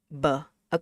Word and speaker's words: ba: Okay, so last one we have a, and then we have a b, a consonant b. So how do you say this in Vietnamese? You're right. It's ba, b, a, ba, right?